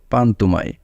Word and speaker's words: পান্তুমাই: পান্তুমাই গ্রামের স্থানীয় নাম হল পান্তুমাই। কিন্তু এর সঠিক উচ্চারণ হল পান্তুমাই।